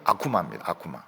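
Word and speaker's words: 悪魔: 기자들하고 싸우고 국회에서 싸우고 악마를 일본말로 뭐라고 하는가 하면 아쿠마라고 하면 똑같습니다 똑같은데 발음이 아쿠마입니다 일본 사람들도 아쿠마는 나쁘다는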